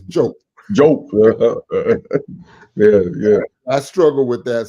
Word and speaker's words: Diop: He also often says that you have to pronounce his name correctly. Not Diop, it's Diop.